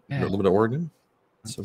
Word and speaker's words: Oregon: oh oh oh or it's not Oregon it's Oregon okay all right I